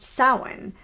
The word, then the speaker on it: Samhain: And by that, I'm referring to Samhain. And you may have seen this word in writing. It's spelled Samhain, but it actually is pronounced Samhain.